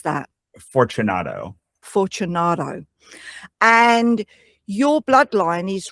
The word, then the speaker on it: Fortunato: How do you pronounce that? Fortunato.